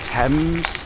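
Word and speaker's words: Thames: This is the uh Tames Path or must be pronounced Tames. I can't imagine the temp's path.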